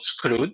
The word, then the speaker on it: Skroutz: have been pronouncing with many different names you pronounce it really correctly it's called scroe indeed and for those of you who have